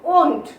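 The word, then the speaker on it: won't: Will not এর contraction করলে যে ওয়ার্ডটা পাচ্ছি সেটা দেখতে সম্পূর্ণ নিউ, নতুন ওয়ার্ড, এবং যার প্রোনাউন্সিয়েশনটা হলো ওন্ট। ওকে, তাহলে উইলের আই এল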